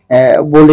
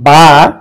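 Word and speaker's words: باء: আর বা, এটা দুই ঠোঁটের মধ্যস্থল থেকে উচ্চারণ করতে হবে।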